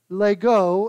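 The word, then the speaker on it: λέγω: but the word say the greek word lego l-e-h-g-o not like the legos you play with although it's spelled the same refers to the sentiment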